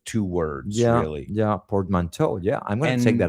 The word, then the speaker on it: portmanteau: I don't know if I'm pronouncing it the French way. I'm pronouncing it the Yeah. American way.